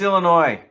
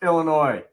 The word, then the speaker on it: Illinois: It's Illinois. You said it right the first time. What is the problem with everybody? The state is pronounced Illinois.